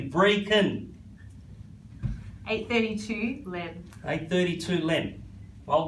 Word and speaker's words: Brechin: a brick and court pronounced breaking not bretchin that's the scottish way to pronounce it if you google it they will lecture you if you pronounce it incorrectly breaking 832 length 832 limb